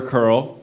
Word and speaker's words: Curl: Curl. Okay. Like the hair.